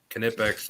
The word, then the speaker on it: Knipex: Everybody says it different. Knipex, Nitex, Nipex, whatever you want to say. I heard from the tool pros that the K is pronounced.